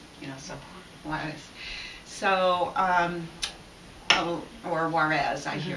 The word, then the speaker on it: Juarez: So the J's are like H's in Spanish, and when they're first, you kind of say, so Juarez.